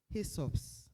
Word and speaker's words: HSOPS: AGM and the hsops we pronounce it as hesops hisops and when we say